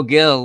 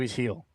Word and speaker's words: Gil: starts okay let's go Gil let's the G is actually pronounced like an H oh hell Lou heel heal oh right okay